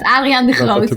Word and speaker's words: Adriaan de Groot: pronunciation, please correct me, Adrian de Groot. Yeah, that's not bad. Adriaan de Groot is what I would say in my native language.